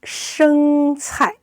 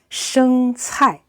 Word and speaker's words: 生菜: 生菜 is a must. Why? Because 生菜, it's pronounced very much like the word prosperity or become rich in Chinese.